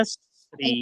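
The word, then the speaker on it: كسرٍ: kasri. Kasri. Bukan kasrah ya.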